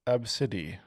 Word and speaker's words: Abcde: comments someone said hi my name is ABCDE e pronounced AB CID um yep we get